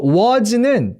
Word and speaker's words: was: 참고로 요 was는 Z 발음이에요.